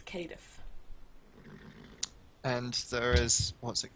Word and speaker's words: Cardiff: The way you pronounce Cardiff properly is Cadiff.